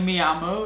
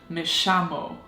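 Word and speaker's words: me llamo: spanish like for example apparently me ammo is how you say my name is but in argentinian spanish it would be mishamo wow the difference okay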